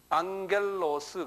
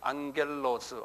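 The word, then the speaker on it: ἄγγελος: 될 거예요 천사는 아 헬라 말로 뭐라 그러냐면 앙겔로스 그래요 앙겔로스 한번 발음해 보세요 입으로 발음하는게 제일 빨리 자기 것이 돼요 예 좀 시끄럽게 말을 하세요 예 앙겔로스 안 하는 사람 있어요 보면 안 하는 사람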